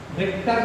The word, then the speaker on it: Richter: ऑन द रिक्टर scale, रिक्टर की spelling ध्यान रखो बच्चों, RICHTER, रिक्टर स्केल।